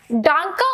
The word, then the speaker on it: Danke: डांका में जो ये ई आ रहा है, हमको इसको भी प्रोनाउंस करना है. ठीक है, इस ई को हम ऐसे नहीं छोड़ देंगे, हमें इसको प्रोनाउंस करना है और इसकी प्रोनाउंसिएशन आती है डांका. ठीक है, डांके, डांके श्योन.